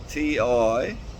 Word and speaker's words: Tijilli: Got my new accommodation there at Tijilli, T-I-J-J, no, butchered, T-I-J-I-L-L-I, Tijilli.